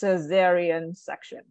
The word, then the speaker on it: cesarean section: I just actually did uh I include the pronunciation down here because this term is kind of a little bit tricky so it's cesarean section cesarean section excellent for delivering a child yeah yep and